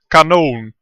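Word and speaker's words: κανών: and Canon comes from the Greek word Canon it's it's a long o that's why I put a little stripe on top of the o and a Canon was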